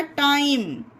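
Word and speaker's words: time: माँ हो गया हमारा, और यहाँ पर ई साइलेंट है गाइस, ठीक है। तो ये हो गया टाइम।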